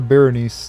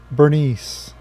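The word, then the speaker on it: Berenice: leave him alone Bernice I think I called her Beres too again Bernice I don't know why I can't say her name right Travis and Joseph well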